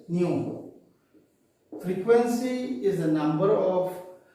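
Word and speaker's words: ν: f or more popularly we used to write as new we pronounce it as new frequency is a number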